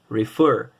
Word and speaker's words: refer: Refer. Então, a minha sílaba tônica está no fer.